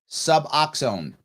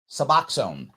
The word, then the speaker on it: Suboxone: so yes um oh it's pronounced suboxone thank you chad suboxone thank you now i will now say it correctly suboxone see jericho someone's helping